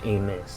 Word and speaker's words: Amos: to get adrian aim is it amos or amos because i hear people say it amos but most of the time you pronounce that last name a miss but whatever he's getting